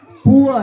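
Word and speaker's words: poor: जण का पाठीमागे सांग पूर म्हटलेली त्याच्या दुरुस्ती कोण करल पुर स्पेलिंग जरी पी डबल आर असल तरी त्याला पुर असा उच्चार उत्तर बरोबर आहे पहा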